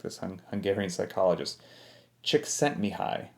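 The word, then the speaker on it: Csikszentmihalyi: i hope that i get his last name correct this hungarian psychologist chick sent me high i believe is how you say it so anyway he basically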